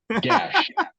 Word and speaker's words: Gash: want to say yeah everyone pronounces is his name incorrectly in the west so Jeff how do you say his actual name Gosha gash g s h gash okay there you go gash that so he